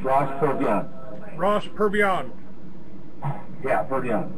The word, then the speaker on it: Purviance: Is that did I pronounce this correct, Ross? Well, it's Ross Purviance. It's Ross Purviance. Ross Purviance. Yeah, Purviance.